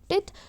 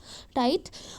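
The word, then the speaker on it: tithe: टिथ वैसे ना इसका असली प्रोनाउंसिएशन होता है वो टाइथ होता है, लेकिन इसे टिथ बोल लीजिए मतलब आपको लिखने में आसानी हो इसलिए।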